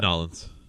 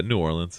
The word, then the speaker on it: New Orleans: How do I pronounce that? Nolans. No, If Nolans. you're from Louisiana, but yeah, New Orleans is fine.